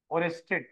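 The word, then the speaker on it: Oersted: full stop कर देखो, इट was discovered by ओस्टेड, ओरेस्टेड, ठीक है ना, ओ ई, हाँ ओ ई, स्पेलिंग देख लो इनका, ओ ई आर एस टी ई डी,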